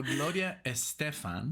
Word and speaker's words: Gloria Estefan: you say the way of saying it so Gloria Estefan yes and this is for our dear friend